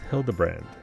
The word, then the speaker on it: Hildebrand: It's pronounced Hildebrand.